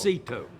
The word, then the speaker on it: Cito: It's not Frito, sir. It's Cito.